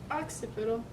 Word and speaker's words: occipital: Occipital. And I don't mean like the animal, the ox. It's spelled with 2 C's instead of an X.